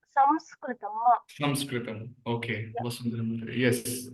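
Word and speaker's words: संस्कृतम्: So we pronounce the Anuswara as makara. It's a nasal sound. Okay. Sanskritam. So through the nostrils, we have to pronounce that's a nasal sound. It's not Sanskritam. That's a wrong. Okay. According to the rules of Sanskrit grammar also, we don't pronounce it as Sanskritam. It is actually Samskritam.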